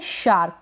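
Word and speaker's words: shark: क बन गया और यहां पर ए आर के से पहले यह जो आर आ रहा है इसको आप आर प्रोनाउंस ना करें चलेगा जैसे मैंने बताया और यह जो एस एच है ना इसका श बन जाता है एस एच का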